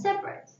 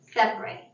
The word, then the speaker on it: separate: The adjective is pronounced separate, and so is the noun. The verb is pronounced separate.